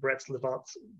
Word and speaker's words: Brest-Litovsk: When the communists took over, they made a peace, the Peace of Brest-Litovsk, pronounced this, in 1918, and withdrew from the war.